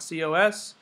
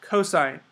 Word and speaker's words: cosine: as cosos and it's not C it's not cosos it's cosine that's how you pronounce it it's always cosine okay so when